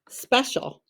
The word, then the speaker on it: special: that short e e and then c i a l says shall s h u l shall special it's very tricky if you need to pause the video you can alright here we go special trace it s p e c i a l just remember that the c i a l actually says shall all right write the